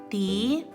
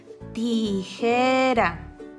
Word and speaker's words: tijera: Tijera. ¿Observas que está en medio de dos vocales y su sonido es débil? Tijera.